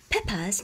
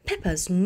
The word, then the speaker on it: Peppa's: Peppa's, cái chữ s này là sở hữu cách và chúng ta sẽ đọc nó là z, bởi vì ở trước